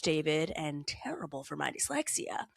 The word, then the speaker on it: D4VD: At the time, I had never really heard of this upand cominging musician, D4 VD, pronounced David, and terrible for my dyslexia.